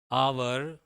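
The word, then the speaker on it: hour: है ठीक है तो यहां तो एच ओ यू आर से स्टार्ट किए लेकिन का जो है आवर आवर जो हुआ the train is dash आवर late यहां पर आ यह वर्ड है आ आ है हिंदी स्वर मैंने एन के फार्मूला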